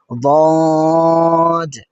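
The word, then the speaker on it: ض: দ প্রথম হরফ দ। দেখুন এটি সাধারণত দালের মত করে উচ্চারণ করা ঠিক নয়। এটা করলে ভুল হবে।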